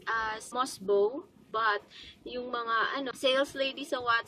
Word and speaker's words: Mosbeau: advanced food supplement news is failing promotion it pronounced as must bow but sales ladies are what saw sales ladies ASM they pronounce it as most view so if I don't be following along opinion